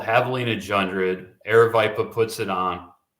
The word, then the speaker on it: Javelina Jundred: is so it's called Havalina jred a viiper puts it on and the Jay is silent and Havalina so that's